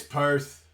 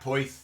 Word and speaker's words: Perth: Perth pronunciation though yeah it's Perth it's not po but I ain't got